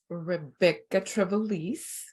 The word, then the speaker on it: Rebekah Trevelise: So today I have my good friend, Rebekah Trevelise.